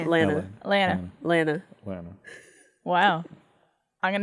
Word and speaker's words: Atlanta: But if you're from there, from there, both of the T's are silent. How How would No, it's just like just like Atlanta. Atlanta.